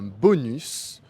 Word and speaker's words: bonus: Et il existe aussi quelques mots où le S est prononcé à la fin comme dans les mots un os un bonus ou encore plus.